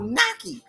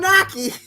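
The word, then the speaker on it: gnocchi: think it's g-n-o-c-c-h-i it's it's called Nike but it starts with a g okay then there's the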